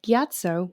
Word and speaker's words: Gyatso: the skeletons at the first air temple monk gyatso which i'm probably butchering that because it's been